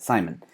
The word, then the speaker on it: Saayman: you just told me that that's how you pronounce it Simon so once again ladies and gentlemen as you